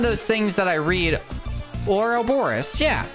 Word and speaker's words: Ouroboros: Ouroboros. Yeah. See, I'm saying it right. It just sounds weird.